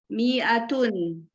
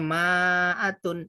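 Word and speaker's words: مائة: Ibu-ibu, tulisan mi'atun ada alifnya ya, seperti ini. Mi'atun. Kelihatan ya? Jadi bukan bacanya ma'atun, enggak. Dia kasrah. Mi'atun, tidak panjang. Tapi tulisannya memang begini, ada alifnya, mi'ah.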